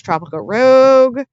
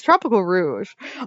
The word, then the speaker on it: Tropical Rouge: I reviewed, which is Tropical Rogue? Or Tropical Rouge? I keep pronouncing it wrong. It's Tropical Rouge. I have written enough Sonic fanfiction to read this and know that is Rouge, not Rogue, but I also kept